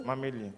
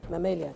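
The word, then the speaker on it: Mammalia: amphibia acot actino Gil so difficult way to pronounce or mamia D can you say the word for me mamia mamia thank you thank you excellent right welcome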